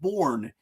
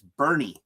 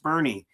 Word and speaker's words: Bourne: It's Bernie. It's pronounced Bernie." As a Yankee fan, that was easy to remember because I just thought about Bernie Williams.